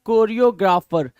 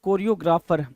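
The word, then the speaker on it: choreographer: चाहिए उनको क्या बोलते हैं उनको बोलते हैं कोरियोग्राफर ये सारे लोग क्या है भाई ये सारे के सारे लोग कोरियोग्राफर क्या है कोरियोग्राफर है तो कोरियोग्राफर याद रखेंगे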